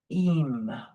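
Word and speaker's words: אם: So this is the aleph and the final mem, and is the word im, which consequently, let's go ahead and change that color really quick to this color, im, pronounced im.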